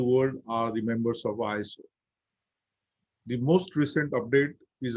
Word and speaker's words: ISO: international organization for standardization we pronounced it as iso in 1987.